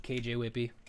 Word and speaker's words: KJ Whippy: You You just say it like how it's spelled. KJ Whippy.